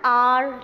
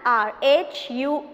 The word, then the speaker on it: hour: Or we can say, when we say like I am an hour late, an hour, H-O-U-R, okay, but the pronunciation is of R.